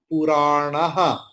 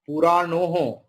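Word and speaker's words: पुराणः: Ajo nityas shashvatuyam puranaha. Okara will be visarga. Okay. No puranoho. It is puranaha.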